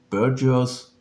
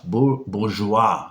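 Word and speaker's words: bourgeois: and the ideology of burgers yeah bourgeoa not burgers bourgeoa society you have to spell spell it like French this kinship or new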